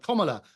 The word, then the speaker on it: Kamala: And I have to say that your last guest, I find it extraordinary that Kamala, and that's how you pronounce her name, she spent an absolute fortune